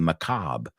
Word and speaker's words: macabre: You know, the macabre. We say the French pronunciation.